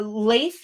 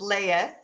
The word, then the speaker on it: Lathe: And you bring a whole new magical realm, the Lathe realm. Did I say it correctly? Yeah, well, close. It's Layeth, but Layeth.